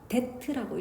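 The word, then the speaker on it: debt: 빚이죠 빌린 돈 말이야 근데 얘 b가 발음이 안나거든 그래서 데트라고 읽어 근데 그의 빚이 다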